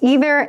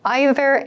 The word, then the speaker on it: either: So you might hear a couple of different pronunciations of these words. I used either and neither. You might also hear either and neither. Both are used.